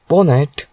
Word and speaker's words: pwnat: access tool in Kinux pwnat pronounced as ponet is a tool that